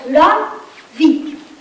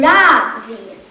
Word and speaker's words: Ravi: Dat spreek je uit als Ravi. Met de korte A van kan en met een lange vi. In het Sanskriet betekent het de zon. In Amerika noemt iedereen me een Ravi. Met de klemtoon op de eerste lettergreep.